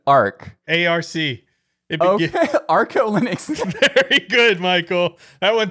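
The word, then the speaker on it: ArcoLinux: Arco Linux.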